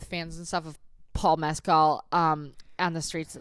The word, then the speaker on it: Mescal: Mescal.